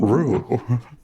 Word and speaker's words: Ryu: It's actually pronounced real. It's pronounced Rue.